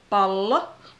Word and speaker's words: pallo: So be careful with length of vowels and consonants. For example, pallo with two L's is ball, and palo with one L is fire.